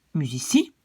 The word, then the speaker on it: musici: Musicus, ça devient musici. Et vous voyez que donc quand il y a un i qui suit, je prononce ça comme S. Donc politici, medici, musici.